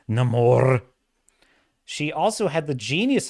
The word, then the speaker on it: Namor: the one that uh corrected the pronunciation of neyar to namore it's Nam more she also had the